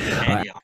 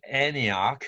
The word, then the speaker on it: Antioch: Antioch. So, as you heard, some people would pronounce it as Antioch. So T is weakened, where some people pronounced it as Antioch. They pronounced T clearly.